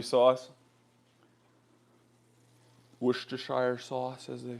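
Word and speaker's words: Worcestershire: bit of maple syrup and some W sauce worshire sauce as they say and what I don't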